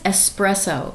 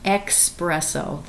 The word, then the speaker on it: espresso: But the word is espresso. It's that type of coffee. It is not espresso. There is no X. It is espresso.